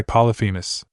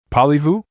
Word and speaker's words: Polyphemus: The satyrs come here thinking they've found Pan, and they get trapped and eaten by Polyphemus. Polyvu? Percy asked again, getting further confused. Geez, Percy. P-L-Y-P-H-E-M-U-S. Naruto emphasized each syllable so the son of Poseidon could understand.